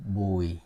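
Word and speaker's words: Bùi: Bo okay bu UI probably you will say boy well that's close now let's let's put the accent on it it have it has y it has y on it okay like the accent Mark is like descending okay slowly descending smooth so boy boy okay like boy that's the last name boy okay now one more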